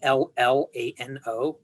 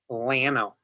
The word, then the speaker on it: Llano: Okay, that's how they pronounce it. There's a town in Texas called Llano. It's basically L-L-A-N-O, which means plains or prairies in Spanish. And if you go there, the locals pronounce it Llano.